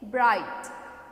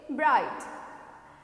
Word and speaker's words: bright: और इसमें क्या होता है, BRIGHT, GH का क्या नहीं आता है, जब हम बोलते हैं तो GH का उच्चारण नहीं होता है, क्या होता है, प्रोनाउंसिएशन नहीं आता है, ठीक है.